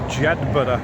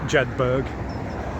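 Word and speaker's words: Jedburgh: the bus stop that will take me to Jedber, and that's how it's pronounced, not Jedberg.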